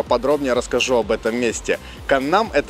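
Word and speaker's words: 강남: Многие из вас этот район знают как Гангнам, и это неправильное произношение, основанное на английской транслитерации, в которой есть буква G в начале и в середине. Правильное же произношение именно Каннам, где ударение идет именно на второй слог «нам».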